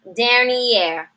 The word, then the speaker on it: dernière: Elle est dernière de la classe. She is last in the class. Dernier. We do have a pronunciation change here. Dernier to dernière.